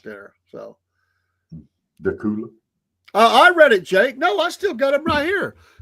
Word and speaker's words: Dacula: It's Decula. Right? It's not Dacula, it's Decula. Decula. It's C-U-L-A, Cula.